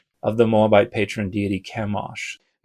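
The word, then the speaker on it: Chemosh: they say the name of this god to Kimosh the god of Moab. And this is how Bible scholars have a consensus that this is pronounced in English of the Moabitete patron deity Kamosh.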